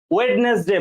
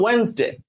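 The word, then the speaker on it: Wednesday: যেমন আপনি যখন ওয়েডনেসডে বলেন এইভাবে, কিন্তু এটা প্রোনাউন্সিয়েশনটাই ভুল, এটা অ্যাকসেন্টের ব্যাপার না, এটা হবে ওয়েন্সডে।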